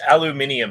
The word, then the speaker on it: aluminium: got an aluminum rod it's pronounced aluminium down there yeah say it properly